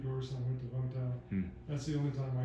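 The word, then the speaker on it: Vũng Tàu: How were when you went to, was it Bentau? Is that you pronounce it? Vungtau.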